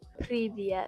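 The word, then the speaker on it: Привет: Privyet. Pri with a B? Uh no, with a P. Privyet.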